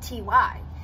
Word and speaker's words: Ty: the correct pronunciation, but the reason I pronounce it Ty is because it's after Ty Warner, and his name is pronounced Ty. And the second reason I pronounce it that way is whenever I see it written in articles, it's not T-Y, capital T, capital Y. It's capital T, lowercase y, meaning it's not an acronym, it's just Ty.